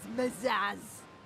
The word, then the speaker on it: Mazaz: I am known as Mazaz. Rhymes with Sugar pizzazz.